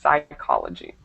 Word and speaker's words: psychology: the first one is psychology psychology psychology perfect so that P is not pronounced just psychology okay and next we